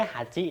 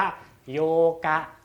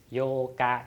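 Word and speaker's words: 八日: มี เบอร์ 8 อ แต่ ระหว่าง จาก วัน ที่ 8 จะ ไม่ ใช่ หา จิ นะ จะ เป็น ออก เสียง ว่า โยกะ โยกะ ต้อง จำ พิเศษ ไป นะ เป็น สั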